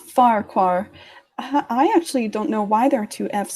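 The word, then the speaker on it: Farquhar: their name is that is it pronounced the farquar or forfox walk I notice this too it's it's pronounced fire car I actually don't know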